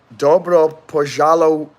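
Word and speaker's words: Добро пожаловать: Dobro pojalowitz. Dobro pojalowitz. Make the W very sharp like a V.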